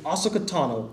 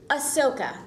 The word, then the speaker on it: Ahsoka: you voice a character by the name of oakano I pronounced that right I hope Ahsoka Ahsoka close dang I'm no you were you were close but you said Tano right oh well cuz I